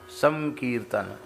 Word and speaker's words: संकीर्तन: अनुस्वार का उच्चारण जो है परवर्ती वर्ण के अनुसार होता है। तो का है ना, तो कवर्ग का अनुनासिक वर्ण क्या है? ग, का खा गा खा ग के जैसा उच्चारण संकीर्तन, संकीर्तन। कीर्तन तो है कीर्तन, और संकीर्तन क्या है?